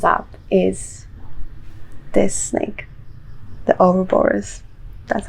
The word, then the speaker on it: Ouroboros: card that comes up is this snake the or borers that's how you say it exactly the same